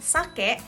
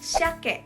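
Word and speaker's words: 鮭: orang yang bacanya dengan sake tapi ada sebagian orang yang membacanya dengan Shake dengan h dua-duanya tuh Betul tapi memang lebih banyak orang sebutnya dengan H untuk membedakan sake yang memiliki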